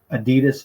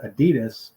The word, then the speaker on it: Adidas: the United States that come from Germany like Adidas shoes are German made and she said you guys pronounce it Adidas when it should be pronounced Adidas but we